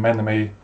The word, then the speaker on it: Menome: I'm Menome, that's how it's spelt and that's how it's pronounced.